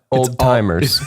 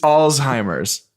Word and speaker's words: Alzheimer's: Oh David Alzheimer's no old timers it's Alzheimer's you don't pronounce the T there is T so that's